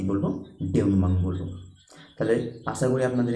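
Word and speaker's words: dénouement: ডিনাউমাং বা ডিনাউমেন্ট, আমরা বলে ফেলি ডিনাউমেন্ট, কিন্তু ডিনাউমেন্ট কিন্তু নয়, ডেউনমাং। উচ্চারণটা কিন্তু ডেউনমাং হবে, DENOUEMENT।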